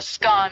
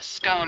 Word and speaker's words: scone: Both scone rhyming with gone and scone rhyming with bone are accepted pronunciations, though regional variations exist.